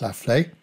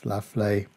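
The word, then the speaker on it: La Fleix: If you want to look it up on the web, that's spelled L-A, then a space, F-L-E-I-X. I believe it's pronounced La Flaye.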